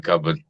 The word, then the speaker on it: cupboard: Now cupboard is actually spelled cupboard, isn't it? Cupboard, yeah. Yeah, but it's the way it's pronounced.